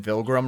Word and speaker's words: Vilgrim: He says rhymes with pilgrim with a H. You're very close with a capital V. Pilgrim. You said Vilgrim, Ragza.